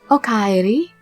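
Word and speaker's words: おかえり: And to say welcome home, you say okaeri. O-ka-e-ri. Okaeri. Yeah, so tadaima, I'm home, and okaeri means welcome home.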